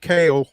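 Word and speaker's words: Kahle: tried to reach out to Doug Scopel earlier today um to get a pronunciation on Nick Kale, which is spelled K A H L E. He he hit me back. Kale like like the vegetable, but um could not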